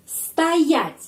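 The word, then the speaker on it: стоять: Dan berdiri, stoять perenkanannya di sini karena itu o dibaca a.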